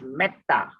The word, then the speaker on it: metta: We say when E appears before a double consonant, that is double T here. So it becomes metta. But ta is a long A here. So it's metta. Okay.